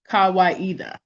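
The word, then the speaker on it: Kawaida: kawaiida a swahili word meaning tradition or reason pronounced kawaiida oh so i didn't say it right okay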